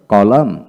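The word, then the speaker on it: column: ই এম কন্ডেম তারপর আসেন কানম কান্টেম তারপরে কলাম কলাম তারপরে সলাম সলাম এন উচ্চারণ হবে না তারপর আসেন ড্যাম ডি এম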